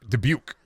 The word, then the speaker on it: Dubuque: Brendan, how do you pronounce Dubuque? Dubuque.